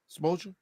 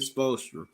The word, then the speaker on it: Spoelstra: That's his name, Spoelstra. Am I saying his name right or wrong? You said right, Spoelstra.